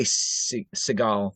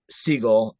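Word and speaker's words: Segel: Jason sigal uh yeah I always want to say s seal because of stupid Steven but yeah and then I I said it right I'm like wait did I say it right um So speaking of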